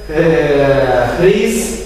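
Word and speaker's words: Rhys: Це глухе Р. Є глухе Л. Це, насправді, це придихове Р. Читається перед ним такі придихання, буде Хріс. Тобто є Рис, таке дзвінке, а Хріс.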